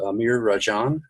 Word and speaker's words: Amir Rajan: I want to say a special welcome to Amir Rajan. Am I pronouncing that correctly?